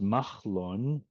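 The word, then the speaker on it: Mahlon: Malon, pronounced Machlon, means sick.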